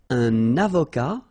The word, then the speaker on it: avocat: Un avocat, so remember, liaison here, and then final T not pronounced, okay?